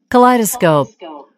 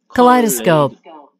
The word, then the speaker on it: Kaleidoscope: 발음 한번 들어볼까요? Kaleidoscope. Kaleidoscope. 컬레이도스콥이에요. 제가 천천히 발음. 컬레이도스콥.